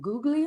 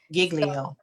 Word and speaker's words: Giglio: pastor of passion city church and i cannot pronounce his name googly oh this is okay giglio yes giglio so um he had sat down